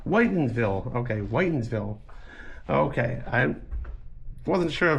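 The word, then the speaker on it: Whitinsville: And this is Witterville's. I think I'm saying it right. Maybe you can correct me on this one. It's called Whitensville. Okay, Whitensville.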